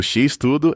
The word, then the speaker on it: X-Tudo: No Brasil, o X-Tudo é essencialmente um hambúrguer extremo, com literalmente tudo nele. O nome utiliza a letra X, que em português tem pronúncia semelhante à palavra inglesa cheese, e tudo significando tudo mesmo.